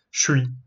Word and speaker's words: je suis: То есть ж станет ш. И ш с это немножко сложно сказать. Тогда мы просто говорим шуй.